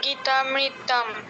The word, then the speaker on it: গীতামৃত: নয় দুগধং আর গীতামৃত হ্যা গীতামৃত গীতে তাতে দীর্ঘ হবে গীতামৃত আচ্ছা ঠিক আছে